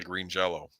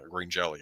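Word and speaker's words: Green Jellÿ: great soundtrack by uh Green Jello and uh green jelly I should say yeah but uh worth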